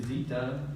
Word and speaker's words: Zita: And next we have Jeannie Zita, rhymes with cheetah.